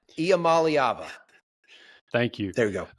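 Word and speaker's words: Iamaleava: It'll take me a year and a half to pronounce his name, and then he'll be off to the NFL. I think it's Iamaliava.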